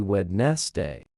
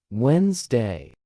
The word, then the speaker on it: Wednesday: Most learners say exactly what they see Wednesday, but it is actually pronounced Wednesday. The D in the middle is completely silent.